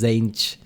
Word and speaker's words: Tzeentch: fate manipulate fate sage that's how you pronounce it don't go to damon zhang yeah it kind of makes sense t silence zhang again t silent all right i like